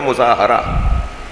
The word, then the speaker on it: مظاہرہ: اسے مظاہرہ کہتے ہیں۔ یہ جو ہم مظاہرہ کہتے ہیں نا، یہ اس کا صحیح تلفظ ہے مظاہرہ، اس کا سامنے والے